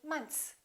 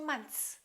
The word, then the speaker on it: months: This TH is pretty easy to pronounce, but when we add an S, the TH and S combination are very difficult, even for native speakers. Most Americans don't really say months. They kind of eliminate the TH and they just say months.